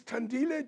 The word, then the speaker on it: Thandile: My new guest is Thandile Chinyavanhu. Have I pronounced it correctly? Yes, you have. Thandile, very welcome.